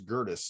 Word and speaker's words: Gerdes: you know wow okay my last name is gertis not it's g-e-r-d-e-s i sat next to a